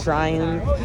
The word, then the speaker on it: Triumph: Is that how you pronounce it? Yeah, the Triumph.